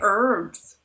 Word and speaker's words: herb: Why do you say herbs? Why do you say beets? What do you say? Herbs? Herbs. They actually pronounce it H. Herb. Yeah, not a herb.